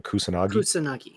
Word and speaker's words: Kusanagi: Kusanagi.